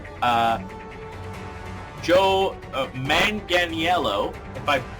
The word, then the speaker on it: Manganiello: hell do you say his name uh joe manganiello if i've said that name wrong please let me know you certainly look